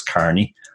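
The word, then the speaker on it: O'Kearney: get wrong as well because of the EA which looks like e but it's actually pronounced just like an A so it's Carney as you know somebody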